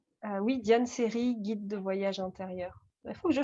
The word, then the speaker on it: Scerri: diane série guide de voyage intérieur je change d'ailleurs lorsque